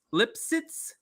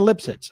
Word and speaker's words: Lipsitz: get her name so her name is Rayna lip shits lipsitz it's spelled l-i-p-s-i-t-z lipsitz okay so Raina lipsitz I think that's how you say it and it's called the